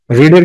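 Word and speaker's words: read: senior শিক্ষক তাহলে এখানে কি দেওয়া আছে পড়েছিলেন রিডের কিন্তু পাস্ট ফর্ম যা present form past participle form ঠিক আছে শুধু প্রোনাউন্সিয়েশন একটু টেন্স হবে সেটা হচ্ছে রিড রেড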